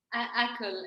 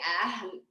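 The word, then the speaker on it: Akl: Akal. Well, it's very hard to pronounce because it's Arabic. It's actually Ahl, but I can't pronounce it.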